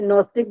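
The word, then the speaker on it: gnostic: तो ये नस्टिक बीइंग है। जी साइलेंट रहता है उसमें। नोस्टिक बीइंग का मतलब ही विज्ञान में को पार किया हुआ व्यक्ति है।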